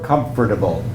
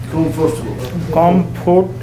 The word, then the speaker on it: comfortable: I'm leaving out some letters. Comfortable.